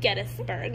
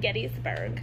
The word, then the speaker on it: Gettysburg: actually it's Lancaster also it's Gettysburg not Gettysburg I used to say